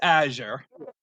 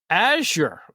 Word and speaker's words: Azure: me aor I mean I kill you I pronouncing it nobody nobody like ever says it right the first time it's Azure Azure okay I am sorry my name is